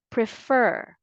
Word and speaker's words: prefer: keep on trying and stress the second syllable prefer I prefer tea to